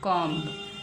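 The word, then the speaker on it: comb: पढ़ेंगे छुपा हुआ पढ़ेंगे सीओ एम बी क्या बन गया कॉम तो सीओ एम को ही तो हमने पढ़ा है कम बी तो हमारी साइलेंट है साथ में लगेगी लेकिन बी को हम बोलेंगे नहीं दिखाई जाएगी लेकिन हम मुंह से नहीं बोलेंगे ऐसे ही नेक्स्ट लिखा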